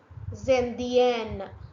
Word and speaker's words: Indienne: Then you have to pronounce till that letter E. Zendienne. Otherwise Zendien. Je suis Zendien. Je suis Zendienne.